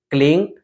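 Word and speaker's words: क्लीं: बाद फिर है क्लिंग उसको बहुत सारे लोग क्लीम पढ़ते हैं म लास्ट में बोलते हैं क्लीम ठीक है आपको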